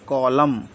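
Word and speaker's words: column: एल य एम एन इसको हम पढ़ते हैं कॉलम कॉलम कॉलम यानी के एम साइलेंट है चलिए और दूसरा समझते हैं एम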